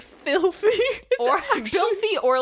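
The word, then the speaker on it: Bilthy: That is spelled B I L T H Y. So it really is like Filthy but with a B.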